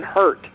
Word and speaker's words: Hart: that one careful Garrison hurt hurt yeah he University of Georgia uh product yeah he came out of University of Georgia h e a r t is pronounced hurt yeah okay um and